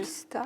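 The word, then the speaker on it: Maestà: maestra. Vous dites Maesta. Et vous dites maesta. Et vous prononcez bien, contrairement à moi.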